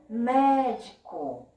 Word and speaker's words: médico: A próxima palavra, médico. Médico. Ó, o que eu falo que eu vejo que está mais visado, mais ouvido, é o mé.